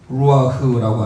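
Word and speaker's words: רוּחַ: 루아흐라고 하는 것은요, 레시, 머리죠, 레시. 그리고 바브의 가운데 이게 우 발음이 납니다. 루아흐. 그래서 함께 고백하겠습니다.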